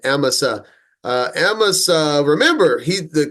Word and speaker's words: Amasa: he had appointed him I was saying aasa she they they're pronouncing it emsa uh emsa remember he